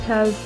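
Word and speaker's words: ه: Ha has the pronunciation of He, just like the He in Heart, and it is found with the I key.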